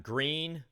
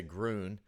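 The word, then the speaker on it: Gruene: we got burn it we got green which I guess technically that is correct most people would say Grune I the peyote Waxahachie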